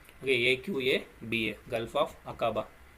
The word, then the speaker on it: Aqaba: Okay, so pronounce பண்ண முடியாது டக்குன்ட்டு. Gulf of அகாபா. Okay, AQABA, gulf of அகாபா.